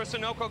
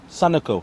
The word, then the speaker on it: Sunoco: Timeout for Sunoco Go Rewards.